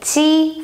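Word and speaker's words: 鸡: For example, if you want to say chicken, the animal chicken, you say ji first tone, ji. So that's spelled J-I, means chicken.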